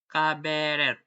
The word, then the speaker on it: cabaret: For example, words coming from French and the eight of laundry it when I read them pronounced and the start in the French way, as in the A in the day.